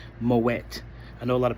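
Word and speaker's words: Moët: Moette, they said it's not pronounced moay. They said it was never a French name. It's it's originally a Dutch name, so you pronounce the T. So, it's Moette.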